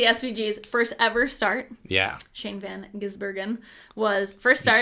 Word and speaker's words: Shane Van Gisbergen: Shane Van Gisbergen was first start.